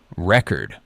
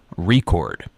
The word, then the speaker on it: record: stress the first syllable record but when it's a verb it's the second syllable record I love this example